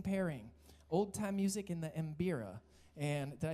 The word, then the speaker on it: Mbira: to an amazing pairing, old-time music in the Mbira.